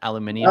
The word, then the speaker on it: aluminium: um lowkey disappointed Clark that it's not the British spelling and pronunciation aluminium oh look at this